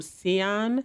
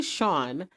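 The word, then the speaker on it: Sian: wrote for I think I pronounced her name Seon. It is spelled S I A N, but I've since learned that her name is actually Shawn.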